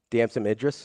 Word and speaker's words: Damson Idris: Is it Damson? Am I saying it right? Damson Idris? Yes.